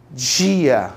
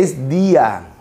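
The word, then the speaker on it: día: Então, no português, esta palavra soa no Rio de Janeiro, que os cariocas chiam, dia, e não existe esse fonema em espanhol. Não existe. É dia.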